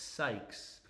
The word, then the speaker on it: Sykes: Be careful of your pronunciation on her name. It's Sykes.